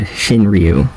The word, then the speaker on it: Shinryu: shinryu speaking and yes I said shinryu since that's how you correctly pronounce my name but there's no problem